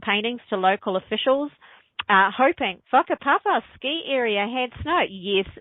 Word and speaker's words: whakapapa: And yes, you say that whakapapa, by the way. That's how any WH in Māori is pronounced like an F.